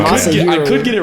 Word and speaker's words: Masahiro: You said Mashiro. Mashiro. It's Okay. Masahiro.